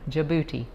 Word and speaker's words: Djibouti: up how i had to google how to pronounce it right so djibouti it's located on the northeast coast of the